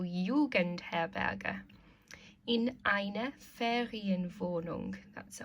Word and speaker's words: Jugendherberge: So, in einem Hotel, in einer Pension, in einer Jugendherberge. Remember, J's are pronounced like a Y, so Jugendherberge.